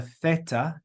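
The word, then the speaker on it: θ: letter here is the Theta Theta in Greek it's like th in LA in English we pronounced it with the th sound then we've got Epsilon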